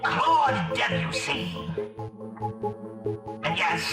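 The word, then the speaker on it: Debussy: Claude Debuse. And yes, it's pronounced debuse. I was going to ask, not Dussy.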